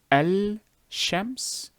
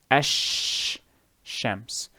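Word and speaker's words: الشمس: with the sheen so instead of saying el shems you will say ash shams so actually now that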